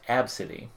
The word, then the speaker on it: Abcde: It's pronounced Absidy.